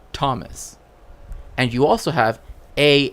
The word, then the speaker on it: Thomas: but with different letters H is supposed to represent sometimes that the letter next to it is pronounced differently right like there's something happening to that right this is why you have t h m right Thomas and you also have